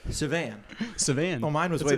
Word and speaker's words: Sauvan: Sauvan. Ooh, Nothing, there you go. nothing like you, Okay. like a Frenchman Or would he say just it. said, yeah. Right. Sauvan.